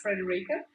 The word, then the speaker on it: Frederica: were successful, because it's Frederica. Pronounced in a German manner would be Frederica, but Frederica is quite difficult for most English-speaking people.